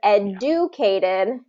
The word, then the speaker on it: educated: Instead of educated, we say educated. So it becomes a J sound and then the Y. So say it one more time for me. Educated. And then it's going to be first syllable stress.